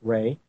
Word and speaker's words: Ra: Egyptian enemy of Ry some pronounce it ra but it is pronounced Ray apep thecreator the Destroyer